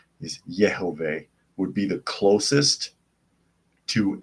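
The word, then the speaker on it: יהוה: or jovah from but that's anglicizing since there is no J in Hebrew because the J sound is not pronounced is yov would be the closest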